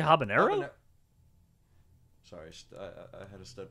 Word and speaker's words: habanero: know what Pepper would be that you can't pronounce uh the the haban Hab habos Habano pepper maybe are you trying to say habanero sorry I had a stud moment oh my